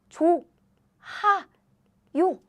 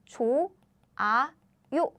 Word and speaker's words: 좋아요: Korean alphabet, you think, this goes here, so the pronunciation should sound like 조, 하, 요, right? Actually, no. Again, Korean sound, this sound is very weak. So what happens is, it sounds like 조, 아, 요.